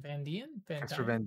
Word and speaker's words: Van Dien: Van Dien? Van Casper Dien? Van Dien, yeah.